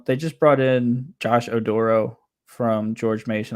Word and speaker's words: Oduro: Now, they just brought in Josh Oduro from George Mason. I hope that's how you pronounce it. Yeah, it's Oduro.